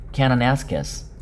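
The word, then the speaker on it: Kananaskis: 캐나나스키스 발음은 카나나스키스에서 열렸던 G7 회담을 조기에 양해를 구하고 미국으로 떠났죠.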